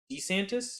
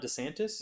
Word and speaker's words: DeSantis: Florida uh Rhonda santis D santis DeSantis that's how he says it not DeSantis yeah is he puts the the emphasis on that syllable I hated that I